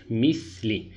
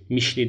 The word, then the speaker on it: مِثْلِ: Misli. Mişli değil arkadaşlar. Misli. Peltek S şeklinde telaffuz ediyoruz.